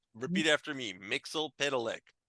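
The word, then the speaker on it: Mxyzptlk: Mixel Pitalik.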